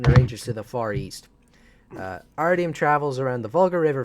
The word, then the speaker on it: Artyom: Artyom I don't know it's Artyom because I knew someone in elementary school his name is Artyom that's how you pronounce it yeah hey by